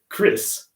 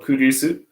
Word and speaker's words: Chris: So my name, Chris. So 5 seconds. 5, 4, 3, 2, 1. So this is incorrect. So this is more like the Japanese pronunciation of kurisu.